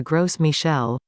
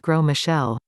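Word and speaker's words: Gros Michel: used to have the gross michelle pronounced grow michelle but it became extinct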